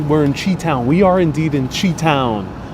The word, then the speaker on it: Chi-Town: It's pronounced Chi-Town.